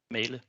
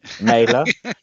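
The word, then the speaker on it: Mæhle: Is it Mahale? Male. Okay, Male. just Mailer. Yeah, okay, so I'm thinking female, male. Is it just male? Just male. Male, like with a hard L.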